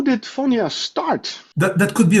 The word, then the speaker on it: Phonya: my first question is is how do you pronounce it it's FIA f is okay at the end of 2023